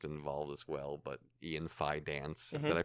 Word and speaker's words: Fidance: But Ian Fidance, did I pronounce that properly? Yeah, Fidance.